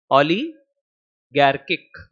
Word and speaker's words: oligarchic: 11th class isn't it how do you pronounce it Ali garkick okay so oligarchic management